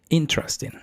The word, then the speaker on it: interesting: Esta palabra lleva en la sílaba tónica en, o sea, tienes que pronunciar interesting. Trusting. Interesting. O sea, sube en, luego baja en trust y luego ten. En trust.